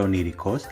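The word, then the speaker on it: ονειρικός: iota e ypsilon, es la combinación epsilon-iota. Un ejemplo es la palabra oníricos, que significa onírico, y como ya sabemos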